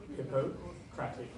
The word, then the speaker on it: Hippocratic: Hippocratic.